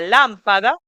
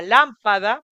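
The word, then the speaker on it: lâmpada: lo que sería a lámpada, con acento circunflexo en la letra A, que es el sombrerito, que tiene un timbre semicerrado, a lámpada.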